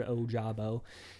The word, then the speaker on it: Ojabo: David Ojabo is the guy that you probably hear a bunch of people trying to pronounce his name, but it's pretty straightforward, Ojabo.